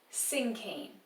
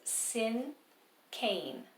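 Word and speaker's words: cinquain: usually rhyme it's called sing cain and i know this word looks like sing queen because it has the q u in there but you do not pronounce it that way you pronounce it sin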